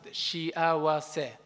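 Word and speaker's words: 幸せ: Let's pronounce it, shiawase.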